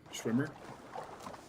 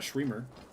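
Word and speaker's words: Schwimmer: Yeah, Schwmer. It's not Shremer. Schwmer.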